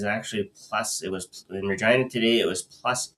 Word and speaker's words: Regina: You mean Regina, the town that sounds like fun? It rhymes with fun.